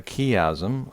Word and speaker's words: chiasm: It's also pronounced chiasm. So it's pronounced chiasm or chiasm. Both I've heard both pronounced by people who would otherwise be knowledgeable, like professors and such. So I can't really tell you what the proper pronunciation is.